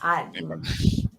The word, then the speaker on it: empada: Empada. But you guys don't pronounce all the vowels and some stuff, you know.